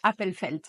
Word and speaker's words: Appelfeld: Je pense que c'est comme ça qu'on prononce, Appelfeld.